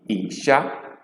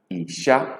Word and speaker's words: isha: She as in isha, isha, which means crayfish.